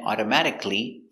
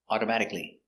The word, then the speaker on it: automatically: l l y y whenever you see c a l l y at the end it's always pronounced the same it's pronounced CLE automatically not automatically it's CLE CLE automatically the computer turns off